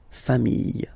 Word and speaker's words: familles: the plural form, les familles, okay? Remember, chien, singular form, chien, same pronunciation, but you put this S, okay? Final S, not pronounced. Famille, singular form. Famille, plural form. Same pronunciation, S, not pronounced, okay?